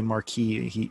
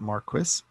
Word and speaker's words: Marquis: though it's kind of Americans would say Marky he pronounces it Marquess there's going to be